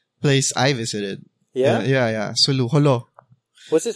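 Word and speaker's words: Jolo: Sulu, Holo. What's it called? It's not pronounced Sulu, it's... I don't know, Holo is Holo?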